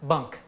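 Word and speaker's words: bench: Bunk. Yeah, what, this a tailor slept on it? Well, no, actually, it's just good old Maine country terms. It's spelled B-E-N-C-H, but it's pronounced bunk.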